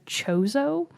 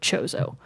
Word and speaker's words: Chozo: i have heard them called this race the chozo so it's spelled CH 0 0 I have never said